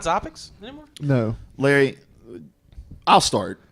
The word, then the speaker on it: Xopics: So it's still pronounced Topics. It's just spelled with an X. It's like, hey, my name is Sean, but it starts with a T. Tean. Sean. The joke makes sense. So, you want to give it another shot? We're going to move on to our latest segment. Topics. Topics. Yeah, the X is silent.